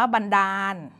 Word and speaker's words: บันดาล: ด เด็ก สระ อา แต่ ตรง นี้ ตัว สะกด แม้ จะ อ่าน ว่า บันดาล จำ ให้ ดี นะ คะ บันดาล ใช้ น หนู มาตรา แม่ กน แต่ ว่า อย่า ลืม นะ คะ เด็ก ๆ บันดาล ใช้ ล ลิง สะกด เป็น คำ ที่ อยู่ ใน มาตรา แม่ กน ด้วย นะ คะ เด็ก ๆ